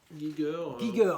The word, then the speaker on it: Giger: avec un dessin de comment on prononce gizer Giger évidemment j'avais une chance sur deux